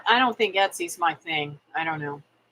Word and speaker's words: Etsy: Etsy store.